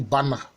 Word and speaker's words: Banda: Et enfin, dans le Bana, ça s'écrit Banda, mais ça se lit Bana.